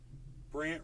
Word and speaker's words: Brandt: Brant. You should all be following at Brant. BRANDT. Brant. And Brant is spelled BRANDT. It's a weird spelling, Brant.